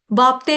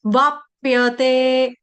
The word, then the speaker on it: वाप्यते: प्याला पी आया प्याला बापते नहीं है बापते नहीं है बाप्यते बाप्यते बाप पियते आघात भी लेंगे।